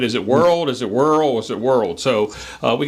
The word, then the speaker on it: Whirl: can say world or whirl or whatever. They know what you're talking about, and so it's widely accepted. I actually researched that, and it originally was Whirl, WHIRL, but some people call it World.